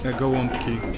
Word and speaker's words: Gołąbki: Gołąbki. Gołąbki, which is like a cabbage wrap with meat inside.